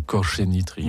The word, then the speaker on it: Kořeny Trio: Si on le prononce en tchèque, c'est Koréni Trio.